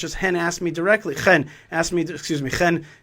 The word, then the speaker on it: Chen: Chen is the right way to pronounce it.